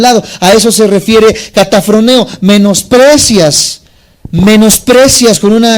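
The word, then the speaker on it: καταφρονέω: Dice K-A-T-A-P-H-R-O-N-E-O. Catafroneo se podría pronunciar.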